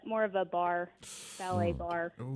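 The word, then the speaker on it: barre: more of a more of a bar ballet bar it's spelled b-a-r-r-e that's the only thing i know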